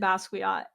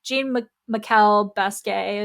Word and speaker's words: Jean-Michel Basquiat: I used to pronounce it Basquiat. We've also talked about this in past episodes on the podcast, but Jean-Michel Basquiat is what I'm going to go with.